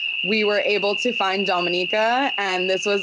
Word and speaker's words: Dominica: I guess I said Dominica, so I'm saying it wrong. It's okay. It's so Dominica is our island.